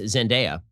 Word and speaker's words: Zendaya: holland and uh i've been informed that it's pronounced zendaya and um honestly the only thing about this